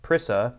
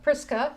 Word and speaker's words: Prisca: And he starts with verse three saying, "Say hello to uh I'm going to pronounce this wrong, Prisca Prissa." Prisca. Prisca, okay.